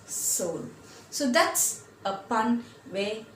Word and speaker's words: Seoul: the capital of Korea it's the Seoul s II or ul but you pronounce it as Seoul so that's a pun